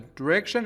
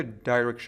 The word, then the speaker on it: direction: A direction is a way to go. یعنی جهت. دقت کنید این کلمه به صورت direction هم ممکنه تلفظ بشه که هر دو تلفظ درسته کاملا. Go in this direction for